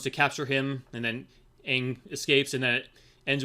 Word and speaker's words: Aang: One thing positive about the show, they actually pronounce the character's name right. They don't say Ong and that shit. Anyway, we see Aang learn that he's the